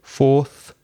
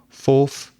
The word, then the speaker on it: fourth: with th and just make this sound so fourth fifth sixth seventh you need to practice in